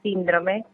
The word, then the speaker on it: síndrome: y bueno quería decirles también que la palabra síndrome que no lleva acento en lado como lo hizo la locutora lleva